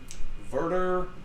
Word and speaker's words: Werder: Schalke and Werder Bremen Werder Bremen W is a V certification print pronunciation and